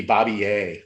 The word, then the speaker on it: Barbier: it's called pronounced turin so bobby it would be bobby a they wouldn't pronounce the r b a okay yeah